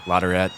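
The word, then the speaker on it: LaTourette: Next course, we are at Lerette Golf Course. Lerette, as the Staten Island guys pronounce it.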